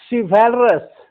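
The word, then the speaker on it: chivalrous: शिवैलरस, शिवैलरस, यहाँ सीएच का उच्चारण श है।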